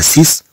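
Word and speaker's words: six: أسي أسي هاد إكس ما تتنطقش، متى تكون مراها كلمة أخرى. أنا أقول هنا سيس، طبعا هي في الحقيقة سيكس، ولكن تتقرا في اللغة الفرنسية سيس إلا كانت بوحدها ككلمة.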